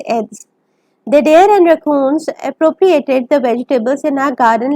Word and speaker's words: appropriate: build a better fence don't confuse the pronunciation of the verb to appropriate with the pronunciation of the adjective appropriate when Congress decides to